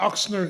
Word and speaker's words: Ochsner: the establishment of the oxner Xavier zavier Oxon College of Medicine exom get used to that pronunciation ox and